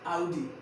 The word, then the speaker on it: Audi: एक बार स्टार्टिंग से, ये RD नहीं होता है, कैसे? आउडी क्या? AUDI आउडी आउडी का।